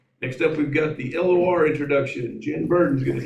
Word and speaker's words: LOR: Um and the LOR Foundation, that is how you say it.